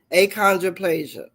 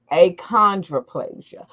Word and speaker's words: achondroplasia: on um and I'm going to try to pronounce it. Don't you say it? And okay, just just tell me. Aondroplasia. Aondroplasia.